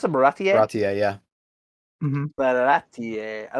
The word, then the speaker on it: Baratie: I like how how do you pronounce it? Baratie? Baratie, yeah.